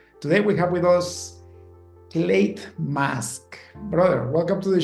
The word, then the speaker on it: Clate: with you looking forward to our conversation um clate for the audience and also uh to make sure my my pronunciation of your name was correct you got